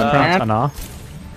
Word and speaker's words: Ana: We have an Ana. It's pronounced Ana. Fucking Ana. There's no O.